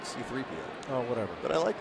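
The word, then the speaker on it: C-3PO: Was that other one CP3O? I think they pronounced it C3PO.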